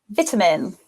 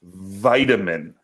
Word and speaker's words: vitamin: Okay, how do you pronounce this word? Vitamin. That's totally wrong. It is vitamin.